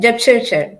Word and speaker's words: Jepchirchir: Jepchirchir, you're saying it correctly. Okay, okay. You're among one of the few who say it correctly.